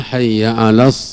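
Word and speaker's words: حي على: di sini pengungkapan atau Pengucapan huruf-hurufnya ya Hayya ala Hayya Ala ya Ee itu di di perhatikan huruf ainnya ya Hayya Al ini yang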